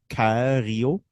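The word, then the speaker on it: Coeurio: curio it's at c-o-e-u-r-i-o so Cario like in French I don't know yeah I think that's how you pronounce it something yeah uh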